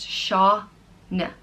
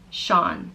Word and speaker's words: Sean: The next name is Sean, and it means God is gracious, and it's pronounced Shaw-n. Sean.